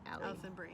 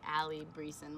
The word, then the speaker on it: Alison Brie: get her name wrong Alison Brie Alison Brie I always want to say Allie breezin which is wrong Alison breathes but I